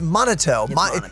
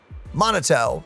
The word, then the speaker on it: Manato: It's monotto. It's like mana like mana. Mana or mana, depending on how you say it. And toe like your freaking toe. Monoto.